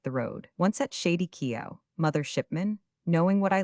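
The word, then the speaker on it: Keaau: It is pronounced Kea'au, quickly Kea'au.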